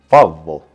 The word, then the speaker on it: Favo: As I said, in front of me is the Arozzi Favo. Okay, that's actually how you say it, with a bit of an Italian flair.